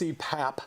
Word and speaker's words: CPAP: public service announcement yeah it's it's pronounced CPAP continuous positive airway pressure